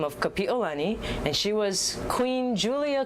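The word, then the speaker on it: Kapiʻolani: power of the queen so we need to say her name correctly kapiolani please do not say kapiolani because to peel something means to extinguish as in a flame so you don't want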